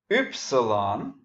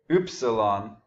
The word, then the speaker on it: upsilon: Upsilon. Notice that I pronounce that U. It's kind of a puckered U, like a French U or a German U. So get used to it. Upsilon.